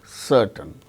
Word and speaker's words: certain: The word ending r is not pronounced, and before a consonant sound also it is not pronounced, like certain, CERTAIN, R is followed by T, a consonant sound T. So, in such case r is not pronounced, certain.